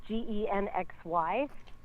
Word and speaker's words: Gen XY: Um, our publication is called Gen Xie J and that's Gen XY rhymes with sexy.